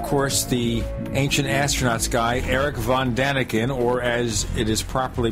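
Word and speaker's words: Erich von Däniken: Paul area but they mentioned of course the ancient astronauts guy erich von daniken or as it is properly pronounced erich von daniken that's what Bob sadati told us and Bob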